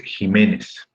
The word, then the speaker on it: Jiménez: Y como me doy cuenta que la sílaba tónica es me, por ende la palabra es grave, al no terminar ni en N, ni en S, ni en vocal, sino que termina en Z, entonces Jiménez va con tilde.